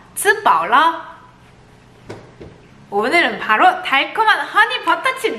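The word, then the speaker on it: 吃饱了: 츠바올라. 발음을 위해서 한번 따라해보세요. 츠바올라.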